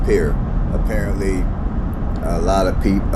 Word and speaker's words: Pierre: South Dakota FYI uh it's not pronounced per year it's pronounced peer apparently a lot of